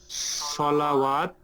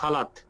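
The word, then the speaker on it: صلوٰة: আবার যেমন ওই যে সেদিন আমরা দেখলাম না সলাওয়াত, আপনি বললেন এটা সলাত, কিন্তু এটা সালাত, এটা কিন্তু সালাওয়াত না, এটা সালাত মানে নামাজ। এইটার উচ্চারণ আ, নট ওয়া।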